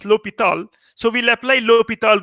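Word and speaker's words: L'Hôpital: written like this but it is pronounced lope it all just like forma was pronounced it was written if if a or m80 but was called Fermat's theorem Verma's a Frenchman so here l'hopital's so we pronounced Lobethal so we will apply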